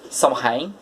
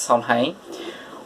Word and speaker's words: Samhain: pronounce it correctly but it's called samhain i believe it's somehow which it marks the